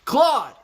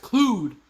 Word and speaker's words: Claude: Poplar coming straight in from Claude. I like it. It ain't that paper poplar. It's the real deal. Pronounced Clued. It's pronounced Claude, man. Come on now.